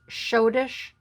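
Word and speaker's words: Schottische: crown diamonds and this is called shodish it's pronounced shodish brilliant composed by frasier r dipmars now when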